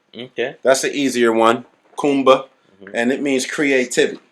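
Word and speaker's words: Kuumba: Okay, so day 6 is pronounced Kumba. Okay. That's the easier one, Kumba, Mm-hmm. and it means creativity. Mm-hmm. This is the symbol. I like that for one. Kumba.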